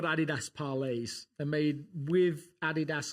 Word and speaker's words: Adidas: They're made by, in my language, Adidas for you guys. Adidas, how do you say that? I like Adidas. Adidas.